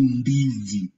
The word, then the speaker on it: ndizi: Like in the word indeed, are you seeing how you pronounce the word indeed in English? Indeed. Indeed. So the letter N, if it comes before, we'll say it nd. It will give the same sound nd, like in the same